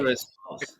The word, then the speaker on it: Icarus Falls: Am I right? Am I saying this right? Yep. Icarus, right? That's right. Correct. Icarus Falls. I said it right.